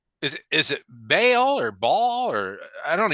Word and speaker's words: Baal: It's Baal, Baal. So it's just kind of whatever you want.